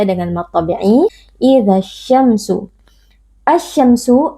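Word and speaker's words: الشَّمْسُ: Asy-syamsu, alif lam asy-syamsiyah, karena ada alif lam yang bertemu dengan salah satu huruf syamsiyah yaitu huruf shin. Cara membacanya, alif lamnya kita idghamkan atau kita leburkan ke dalam huruf shin.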